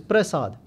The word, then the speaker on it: prasad: Prasad, which is spelt with half a rara in the pair, and no bindi in the sasa, so it's prasad.